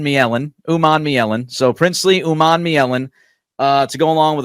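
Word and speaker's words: Umanmielen: So Princeley Oman Miellen uh to go along with a couple of other guys.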